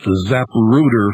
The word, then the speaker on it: Zapruder: and handling and uh the zap rooter film and i'm pronouncing it very carefully folks because we're getting orders for the mugrooter film and there's a booboo film and the zaparado film and you name it you guys have misspelled